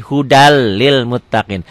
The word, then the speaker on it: Hudan lil muttaqin: Coba tulis dengan laten Hudan Lil Muttaqin dibacanya n-nya hilang and kalau di latihan kan jadi Huda jadi double l Huda Lil Muttaqin tanpa ditahan itu idgham bilagunnah ghafurun